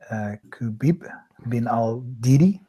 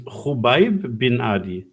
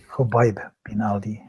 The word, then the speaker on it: Khubayb bin Adi: Kubib bin al-Didi. The KH is a Kh, so it's Khubayb bin Adi. Khubayb bin Adi.